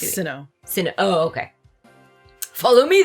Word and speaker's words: Hisui: Oh, it's Hisui. Sinnoh. Oh, okay. Follow me then. Onward to Jubilife Village. Jubilife. He pronounces everything wrong.